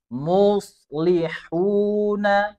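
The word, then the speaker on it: مصلحون: Contohnya muslihuna, ya. Muslihuna. Bukan mus. Itu tipis. Harus tetap dijaga posisi dhammahnya. Bukan mus. Ya, naikkan pangkal lidahnya teman-teman. Muslihuna.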